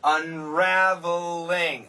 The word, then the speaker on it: unraveling: Unraveling. Ah, this is tough pronunciation. R-V-L. Very difficult for many students.